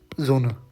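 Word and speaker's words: Sonne: दी जोना जो होता है, तो एस को हम बोलते हैं, लिखा तो एस हुआ है, लेकिन इसको ऐसे प्रोनाउंस करोगे जोना, या फिर हिंदी में लिखूँ तो जोना, या फिर रुको एग्जैक्ट लिखते हैं तो जोना, कुछ इस तरीके से।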